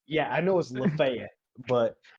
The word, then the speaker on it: Lafayette: no I don't yeah I know it was LaFayette but it's it's actually pronounced Lafayette but you dumb bucks call it Lafayette also